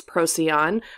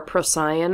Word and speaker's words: Procyon: So the bright star in Canis Minor is known as Procyon or Procyon. I've heard it pronounced both ways. I kind of bounce back between those two pronunciations.